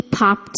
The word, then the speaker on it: popped: Verbs ending in voiceless sounds, p, k, th, f, s, sh, ch, cause the ed ending to be pronounced as the voiceless t, with no vocal cord vibration.